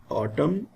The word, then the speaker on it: autumn: dark walk would should n is silent in autumn him p is silent